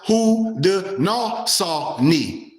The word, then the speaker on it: Haudenosaunee: The people of the Iroquois Confederacy, watch this, also known as the Six Nations, refer to themselves as Haudenosaunee, pronounced Haudenosaunee. Haudenosaunee, pronounced Haudenosaunee.